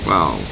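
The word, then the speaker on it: Vau: Wow. That's spelled V-A-U.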